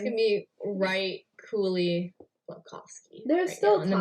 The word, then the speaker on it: Slavkovsky: Slavkovsky, let's talk about him.